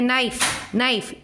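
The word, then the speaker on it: knife: तो वैसे ही हो गया नाइफ, K का नाइफ होता है क्या? नाइफ नहीं होता है, नाइफ होता है, K का प्रोनाउंसिएशन नहीं होता है।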